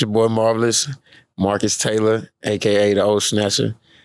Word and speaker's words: Marquis: today htown we got Marcus you know they like to say Maris but I know my man say he he rather roll with the Marcus Marcus is how it's actually pronounced but Marcus Taylor man